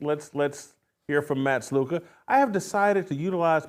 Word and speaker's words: Sluka: Matt say the last name again for me sluka sluka sluka yeah it's spelled skola you see that spelled in skola